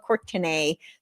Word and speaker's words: Courtenay: So it's pronounced Courtenay, but it's spelled Courtenay.